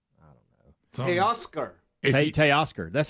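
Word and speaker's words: Teoscar: Tay Oscar.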